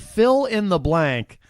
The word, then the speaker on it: PHIL-IN-THE-BLANK: In all caps, and it's spelled PHIL-IN-THE-BLANK. Fill in the blank.